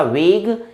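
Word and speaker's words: vague: इसको करेक्ट उच्चारण आप करिएगा, वेग, इक्विवोकल, ऑब्सक्योर, अनक्लियर।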